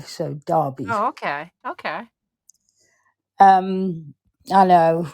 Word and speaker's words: Derby: or Derby Derby Derby we say d as it's spelled D e r b y but we pronounce it d a r b y so Derby okay okay um I